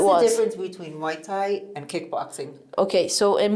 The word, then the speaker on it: Muay Thai: martial art world, or like the main focus is Muay Thai. Is Muay Thai. Okay. Yeah, that's what it was. What's the difference between Muay Thai and kickboxing?